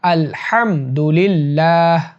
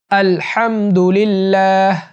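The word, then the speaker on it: الحمد لله: হাঁচি দিয়ে বলবে আলহামদুলিল্লাহ আলহামদ এখানে হা টা হলকের মিডিল থেকে হবে আলহা হা আলহামদুলিল্লাহ আলহামদুলিল্লাহ আলহামদুলিল্লাহ আলহামদুলিল্লাহ এরপর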